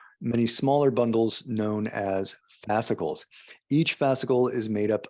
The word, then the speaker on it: fascicles: And muscle cells make up fascicles, and fascicles make up whole muscles. Make up fascicles and fascicles. How do you pronounce it? Fascicles. Okay. Yeah. Fascicles. Like popsicle, but fascicle, bicycle, fascicle.